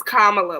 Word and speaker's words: Kamala: Her name is Kamala, like Kamala.